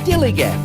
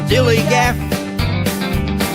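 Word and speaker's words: DILLIGAF: that's spelled D i l l i g a f dilig and this is what it means do I look like I give a Dilly G am I being direct enough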